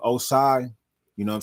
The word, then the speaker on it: Oscyi: So I switched it up from to Oscyi.